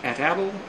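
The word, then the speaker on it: atlatl: It's pronounced ATATL or other ways, but this was a weapon used by the American Indians.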